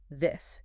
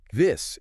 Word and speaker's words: this: It's a short, crisp sound. Think of the I in hit or sit. This. It's quick. This. It stops abruptly.